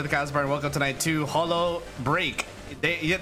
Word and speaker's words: Holo X Break: cbar welcome tonight to hollow break they the x is silent we do not pronounce that otherwise K is going